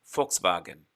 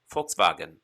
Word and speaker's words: Volkswagen: you can even have like the german f sound as in volkswagen a volkswagen is really a volkswagen or a folks's wagon